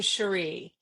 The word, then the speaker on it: Cheri: and the first name Sheree.